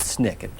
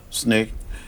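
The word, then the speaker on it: SNCC: of that committee why called Snick uh called Snick it was called Snick a short I guess for the Student Nonviolent Coordinating Committee of the press Doug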